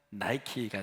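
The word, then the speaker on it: Nike: 꿨는데 우리 이름을 이렇게 니켈을 영어 식으로 발음하면 나이키가 되지 않습니까 그래서 나이키 로 하는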